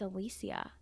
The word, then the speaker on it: Alicia: there know that we've all been saying her name wrong it's not Alicia Silverstone was it Alicia it's Alicia but she never told anyone is this I've